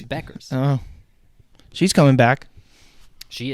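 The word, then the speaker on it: Bueckers: Buchers, It's Beckers. It's Buchers. Beckers. No, there's the U is silent.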